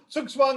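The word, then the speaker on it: Zugzwang: the end you have zugswang is an english word coming from german it's a german where do the germans pronounce the zed with a sort of uh hidden t behind it so it becomes but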